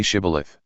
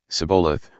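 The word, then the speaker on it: shibboleth: he replied no they said all right say shth if he said sabath because he could not pronounce the word correctly They seized him and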